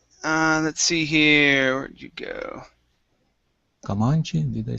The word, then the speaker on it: Comanche: Comanche, did I say it correct? Well, Comanche.